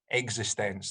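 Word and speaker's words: eXistenZ: tried to watch uh david cronenberg film called existence that's how it's pronounced um i watched it for about 15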